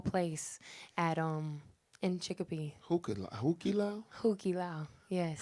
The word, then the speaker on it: Hukilau: And my aunt and uncle owned a Polynesian show at the Hukilau. That's like the staple place at in Chicopee. Hukila? Hukilau.